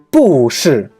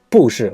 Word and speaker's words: 不是: For example, 不是 means it's not, but we don't pronounce 不是, we pronounce as 不是.